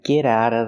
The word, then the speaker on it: get out of: Not get out of, but get out of. We hear the t and get and the t and out pronounced as fast e's. Get out of. Get out of the house. And you don't have to pronounce the vv sound in of because it's before a consonant.